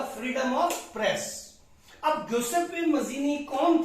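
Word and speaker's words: Giuseppe Mazzini: और वो कौन है, ग्यूसेप्पी मजीनी। कई लोग कहते हैं गजीपी मजीनी, लेकिन इसका प्रोनाउंसिएशन है ग्यूसेप्पे मजीनी।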